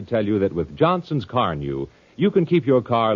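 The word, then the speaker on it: Carnu: And I'm glad to tell you that with Johnson's Carnew, you can keep your car looking its best, polished and shining with a very minimum of work.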